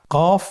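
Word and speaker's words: قاف: কফ উচ্চারণের ক্ষেত্রে একটু মোটা করে উচ্চারণ করতে হবে। আপনারা আমার সাথে আবার বলুন কফ। আরেকবার চেষ্টা করুন। কফ। কফ উচ্চারণের ক্ষেত্রে অবশ্যই তিন আলিফ টেনে পড়তে হবে।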